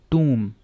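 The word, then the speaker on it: tomb: इसको कैसे प्रोनाउंस करेंगे, टूम, टूम, बी नहीं पढ़ना यहाँ भी, तो ये क्या है, टूम, इसमें एक और ओ यहाँ पे ऐड हो जाएगा, तो टूम, ठीक है।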